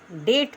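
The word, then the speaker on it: debt: इसके बाद टी से पहले अगर बी आए तो बी साइलेंट रहता है। Example D ई बी टी। अब इसमें बी नहीं पढ़ेंगे। डेट पढ़ेंगे।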